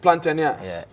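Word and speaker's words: Platanias: Plantas. Plantenas. That's how you pronounce it in Greek.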